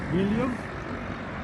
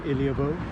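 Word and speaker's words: Ílhavo: This is a river Bocco, and we're just coming into Ilio. The locals don't pronounce the O in Iliovo; they say Ilio.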